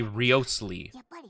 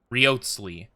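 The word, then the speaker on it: Wriothesley: Like, some people say Risley, others say Rotsley, and some people say Riosley.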